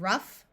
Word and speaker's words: rough: There are a few words where GH has the sound of F. In these words, the OU will have a short U sound. So we have rough, tough, enough.